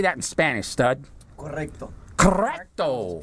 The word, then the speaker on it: correcto: Correcto. Correcto. Put an extra O there. And a little rolling of the R's.